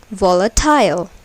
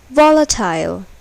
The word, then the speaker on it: volatile: accented syllables are capitalized volatile here the first syllable is accented suppose if the last syllable is accented then it will be pronounced like volatile but it is volatile now pay attention to